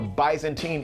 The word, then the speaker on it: Byzantine: of emperors from the Byzantine era. Did I say it right? Byzantine. Okay, like Bismarck.